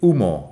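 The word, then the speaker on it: humo: to give off smoke the H in UMO is silent the H is always silent in Spanish unless it's you know a CH which is a different thing so UMO is smoke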